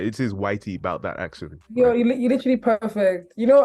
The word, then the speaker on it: ytboutthataction: just want to make sure that I'm actually pronouncing it right it is Whitey about that accident you're literally perfect you know I actually Wonder